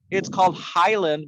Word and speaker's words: Hyland: Yeah, it's called Highland, but it's spelled Hyland, Highland Park Lake Preserve, Bloomington.